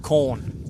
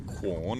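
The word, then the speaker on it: Quorn: adelade it's just called corn q r n corn corn is it corn or corn well it's corn but uh you know when you're in the country you shorten it it is qun if you want to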